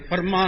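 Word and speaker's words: Fermat: ಇವಾಗ ಇದರಲ್ಲಿ ಫ್ರಾನ್ಸ್ ಅಲ್ಲಿ ಫರ್ಮಾ ಅನ್ನೋ ಒಬ್ಬ ವಿಜ್ಞಾನಿ ಇದ್ದ ಫರ್ಮಾಟ್ ಅಂತ ಫಿಸಿಕ್ಸ್ ನವರು ಸಾಮಾನ್ಯವಾಗಿ ಉಚ್ಚಾರಣೆ ಮಾಡ್ತಾರೆ ಟಿ ಸೈಲೆಂಟ್ ಅಲ್ಲಿ ಫರ್ಮಾ ಅವನು ಗಣಿತಜ್ಞ ಹಾಗೂ ಭೌತ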